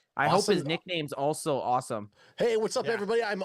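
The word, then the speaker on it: Asim: His name is pronounced Awesome Richards.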